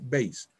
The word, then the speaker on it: Bayes: Así se escribe Bayes, ¿no? Pero se lee Bayes.